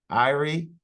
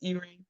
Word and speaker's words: Irie: Irie. It's Erie.